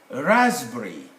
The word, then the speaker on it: raspberry: a closed syllable now when letter p stands in front of this consonant they normally they are normally dropped from the pronunciation they are there in spelling they shouldn't be here so we get phrases cabbage pterodactyl sam psyche pneumonia raspberry raspberry raspberry raspberry raspberry long a raspberry raspberry shot ah raspberry like that and so